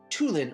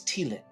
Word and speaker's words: Tevlin: Oh, um, and I think I heard you call me Tulin earlier. My name's Tin.